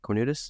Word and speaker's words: Cornutus: Is that how you pronounce it? Cornutus? Yep, Cornutus, Texas.